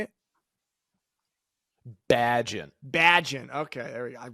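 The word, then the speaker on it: Bagent: Remember last episode when I mispronounced the backup quarterback name for the Bears? Bajan. What is it? I already forgot. I'm stuck pronouncing it the European way. How do you say it? Badgin.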